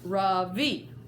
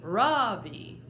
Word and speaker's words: Ravi: It's pronounced Ravi, with a soft Ra and a strong V. In Sanskrit, it means the sun. In America, people call me Ravi, with the stress on the first syllable.